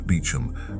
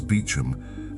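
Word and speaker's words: Beauchamp: A name that is in its English pronunciation completely unrecognizable as what its spelling announces.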